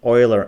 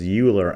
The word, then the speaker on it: Euler: And it is pronounced Euler angles. I always thought it was Euler angles, but this is named after a guy, Euler, who obviously was some mathematician way back when.